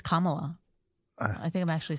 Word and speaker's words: Kamala: So I just learned how to say Kamala. I think it's Kamala. I think I'm actually saying it wrong. Kamala. Well, here's what I'm. Kamala, Kamani. No, it's like Kama.